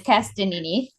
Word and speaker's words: Castagnini: Tell me how to pronounce it. I should have asked you before. That's okay. Everyone butchers it. It's Castagnini.